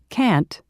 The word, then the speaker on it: can't: 76 exercise 9 pronunciation can't and shouldn't part a listen and practice these statements notice how the T in can't and shouldn't is not strongly pronounced you can get